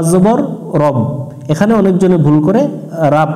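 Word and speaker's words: رَبِّ: রু এটা জিব্বার আগা থেকে একটু নরম করে উচ্চারণ করতে হবে বাজের বিউবি আউজুবি বারবার একটা শব্দ পড়ে আমরা মুখস্ত করে নিব র বা জবর রব এখানে অনেকজনে ভুল করে রাব পড়ে রাব রাব্বিন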